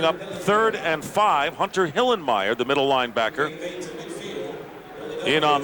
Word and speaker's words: Hillenmeyer: I love that guy you got to say hillenmeyer not hillermeyer you can't be lazy in the pronunciation Goose it's my kind